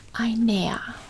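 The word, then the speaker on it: einer: it's gonna be inea so an ER e i n e r I near which is like when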